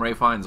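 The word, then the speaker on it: Ralph Fiennes: seen it written Ralph but people call him ray finds all the time yeah I know I don't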